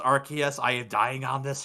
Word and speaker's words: Arceus: pokemon legends arceus stuff and yes it is pronounced rks i am dying on this hill you can't stop me disagrees with me it's arceus yes it's even the official pokemon director or